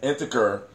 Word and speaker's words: integer: An integer is the set of numbers, units that encompass the counting numbers, the zero and the negative of the counting. It's the pronunciation with a soft G.